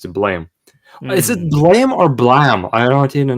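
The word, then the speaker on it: Blame!: Blame or Blam? I don't even know how to It's pronounce it. Blum because the Japanese don't know the sound fix for Blum, so they made it Blame.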